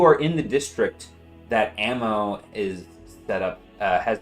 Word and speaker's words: AMMO: a group called Amma ammo yes ammo is uh spelled like spelled like the abbreviation for ammunition yeah capital a capital m capital O not two eyes okay so like Amo